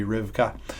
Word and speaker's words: Rivka: The better pronunciation would be Rivka.